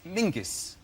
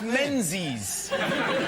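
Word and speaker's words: Menzies: His name is Mingus. Mingus. Yes. Goss. Yeah. Ming. Yeah. But it's pronounced it's it's spelled M E N Z I S.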